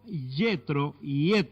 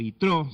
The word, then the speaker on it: Yitro: Oyó Yetro, o Yitro, se pronuncia en hebreo, sacerdote de Madián, suegro